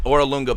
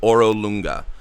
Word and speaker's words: Orolunga: Artist Simber also knows about the Spirit Naga in Orolunga. By the way, I misspoke earlier. The Spirit Naga Saja is not in Obtau. It's in Orolunga.